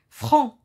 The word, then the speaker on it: franc: Franc, إنسان franc, يعني صريح. ما كيخباش، يعني لا يعرف إخفاء شيء، صريح بالعبارة. Il se termine par C, la lettre C, elle est muette aussi, elle se prononce pas.